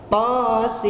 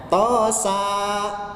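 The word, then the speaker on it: طس: dua huruf itu adalah tosin ya bukan tosa gitu tapi membacanya tosin baik kita berlanjut ke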